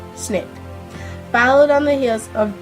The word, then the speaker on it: SNCC: belonged to the Student Nonviolent Coordinating Committee, SNCC, pronounced SNCC, followed on the heels of dramatic sit-ins against